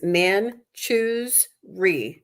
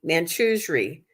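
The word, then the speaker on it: Manjushri: wow so uh it the pronunciation in the book is man choose re man Cho re it's still not easy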